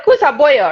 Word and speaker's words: Kusa Boyo: And yeah, Kusa Boyo, right?